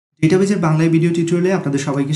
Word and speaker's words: database: সময় আমি ডেটাবেজ অথবা ডাটাবেজ বলে থাকব, এই দুইটা মিশ্রণ করতে পারে, সেজন্য আমি কমা চেয়ে নিচ্ছি। কারণ আপনারা অনেকেই জানেন যে ইংরেজিতে সঠিক প্রোনাউন্সিয়েশন হচ্ছে ডেটাবেজ, কিন্তু বাংলা টেক্সট বুকে লেখা আছে ডাটাবেজ।